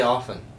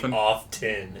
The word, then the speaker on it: often: stuck in silence say often sean often stop it it's not right the t is silent there's no shot that without it being pointed out to you that you say off tin normally i often think